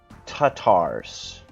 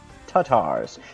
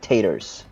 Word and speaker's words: Tatars: out there it's pronounced Tatars it's like first you say car in a British way without the are car and then say it in a American Way tars Tatars it's not taters it's not potatoes rolling